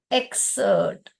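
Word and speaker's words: excerpt: उसको हम कहते हैं एक्सर्ट यह पी जो है साइलेंट है क्या बोलते हैं उसको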